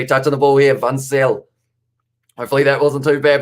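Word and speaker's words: Van Zyl: It is Fansel. Zeal. So it is actually pronounced with a Z.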